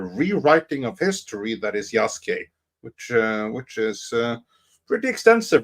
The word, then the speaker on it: Yasuke: his desire to push Yasuki. Yeah, well, Yasuke, as it is pronounced.